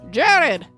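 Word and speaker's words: Gerard: enemies so now jared now it's spelled g-e-r-a-r-d jared okay jerry claims to have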